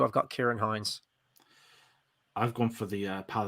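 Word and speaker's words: Ciarán Hinds: the terrible pronunciation of Kieran Hines. It was like I don't know how they pronounced it, but I was like, that's not Kieran. It was something, or like Cheeran Hins.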